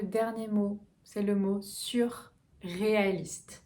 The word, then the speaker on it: surréaliste: Et enfin, le dernier mot, c'est le mot surréaliste. Donc vous pouvez se séparer. Sur, U. Le U est vers l'avant et le R.